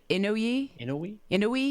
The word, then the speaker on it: Inouye: I think it's I heard a few different pronunciations. Inouye. Yeah. Inouye, it might be.